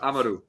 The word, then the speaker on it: Amaru: It's Amaru. Amaru. No, Amaru. Yeah, there we go.